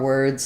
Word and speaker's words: word: example of w r words so we have word is the were plus D sound um so just the UR vowel and World think about